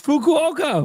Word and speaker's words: Fukuoka: It's Fukuoka.